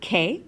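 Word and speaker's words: qué: think quick right but in Spanish it's just like is in Kiwi or kick there's no quoi to it alright so for example we have the question where it K which means what okay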